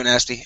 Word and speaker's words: nasty: Where'd you go, nasty? All right, here we are. Instead of nest, it's an ah sound. Nasty. Nasty.